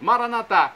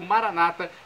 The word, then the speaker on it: Maranatá: Maranatá, como dizemos nós católicos, ou Maranata, como dizem nossos irmãos separados, os evangélicos ou protestantes.